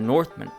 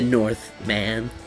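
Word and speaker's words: The Northman: the batman and the northmen both movies that week i believe it's pronounced the north man oh is it really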